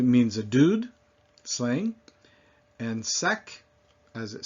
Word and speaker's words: sac: So among those that are usually pronounced are the C. Repeat after me. Bac, mec, sac.